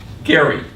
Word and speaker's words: Gerry: last person who saw Elbridge Gary Gary that's the correct pronunciation and from him his